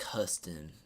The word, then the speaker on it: Houston: But it's Houston with no O in the front. So it's like Huston.